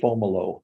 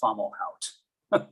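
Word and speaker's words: Fomalhaut: there's all kinds of on the radio periodically and they call it fomolo so that's what I've learned to do it all depends where you put the emphasis I grew up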